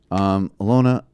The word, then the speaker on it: Alyona: The first being that I pronounced her name correctly, which I've begrudgingly accepted. Thank you. Alyona.